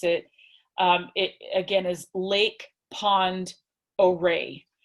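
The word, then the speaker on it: Lake Pend Oreille: the that the word lake pond array looks like lake penned oreo but it's not it's actually pronounced oh ray it's a french it's a french name and so keep that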